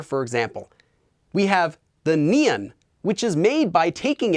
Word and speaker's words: 니은: We have the nian, which is made by taking it and attaching I.